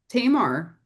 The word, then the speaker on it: Tamar: Tamar, Tamal, it's pronounced Tamar, not Tamar.